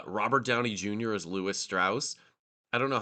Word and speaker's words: Strauss: lot on that Lewis Strauss was uh the Republican guy and I think he even pronounced his his last name like straws like with a Southern draw so it sounded less Jewish I mean he he